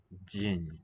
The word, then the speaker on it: день: So if a consonant in Russian is followed by an e or e vowel, you'll get a transitional y. День. День. День.